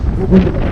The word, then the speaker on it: Gugelev: I tried to ask her how to pronounce her name, and she told me, you know, Google, and add to this, it becomes Gugelev.